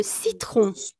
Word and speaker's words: citron: Le citron. Le citron. ¿Tiene el sonido O? No lo tiene. Aunque tenga la letra O, pero no tiene el sonido O. Tiene un. Y eso no es O.